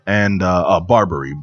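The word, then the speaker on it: Barbiere: on here uh It Is by Frank J Barberry and uh uh Barberry b a r b i e r e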